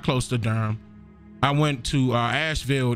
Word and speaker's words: Durham: to Durham I said Durham I went to Durham that that's how it's pronounced Durham North Carolina Durham is beautiful but it has